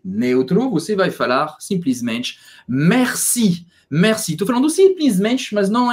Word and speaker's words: merci: e presta atenção porque um erro muito comum de pronúncia nesta palavra é falar Merci como se tivesse um acento circunflexo não no e não